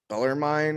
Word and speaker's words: Bellarmine: i don't know how to is it bellar bellarmine or something yeah yeah that's how you say